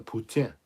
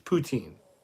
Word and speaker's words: poutine: anyway yay poutine Canadian I said it's actually pronounced you're French the Putin it's poutine I don't care it's not